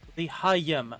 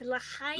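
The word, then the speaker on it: לחיים: It's L'chaim. L'chaim, L'chaim. You need a little more phlegm in your L'chaim.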